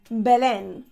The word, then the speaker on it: Belén: No, don't get the pronunciation wrong or mistaken by something else. Belén.